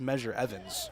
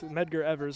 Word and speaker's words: Medgar Evers: So initially last week, I fully butchered it. I thought it was Measure Evans. Evans is obviously not the name. It's Evers, and it's not pronounced Measure. It's Medgar. Well, with Medgar Evers, of course, a civil rights icon.